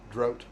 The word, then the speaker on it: drought: Drought. Drought rhymes with out.